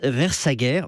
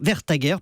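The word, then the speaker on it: Vestager: qui est une danoise qui s'appelle margrethe verse vers sa guerre vers ta guerre pardon c'est difficile à prononcer a fait un travail vraiment sérieux c'est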